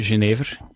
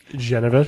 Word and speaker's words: genever: of the Spirit uh in Belgium we say uh genev genev yeah oh okay I think